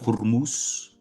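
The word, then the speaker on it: Hormuz: It's a strategic location like Greenland, like Venezuela, like the straight of Hurmus. That's how you pronounce it.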